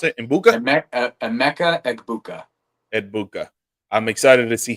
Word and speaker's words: Emeka Egbuka: And how do you pronounce it? Egbuka? Emeka Egbuka.